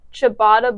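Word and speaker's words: ciabatta: we're gonna research or sabata it's sound it's pronounced chabata but it's not spelled with an H so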